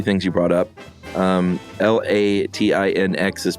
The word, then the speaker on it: Latinx: Latin X or latinx latinx sounds right because it's Latino Latina sure latinx yeah that